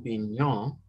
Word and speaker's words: Bignon: And if you've ever heard the name Bignon, he pronounced it Bignon, really, he Americanized it.